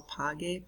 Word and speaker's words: pague: So pague, pagues, pague, pagemos, paguen. That GU keeps that hard G sound.